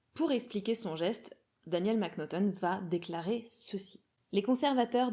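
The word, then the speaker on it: M'Naghten: qui s'appelle Daniel mcnuton alors ça sécrit comme ça mais semble-t-il ça se prononce mcnuton va assassiner un autre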